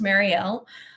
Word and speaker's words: Marielle: My name is Marielle. I pinned it at the top, but it's pronounced Marielle.